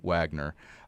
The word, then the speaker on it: Wagner: of the mercenary group Wagner, or if you want to pronounce the W, Wagner.